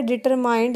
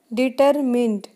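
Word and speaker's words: determined: यहाँ पे मैंने एक वर्ड बोला है डिटरमाइंड, इसकी प्रोनंसिएशन होती है डिटरमिंड.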